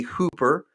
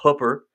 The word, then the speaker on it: Hooper: Um, people say Hooper, but my wife will correct me. It's Hooper.